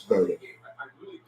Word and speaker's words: Bowden: B my mistake it's Bowden it's spelled the same but it's pronounced differently yeah Lions let do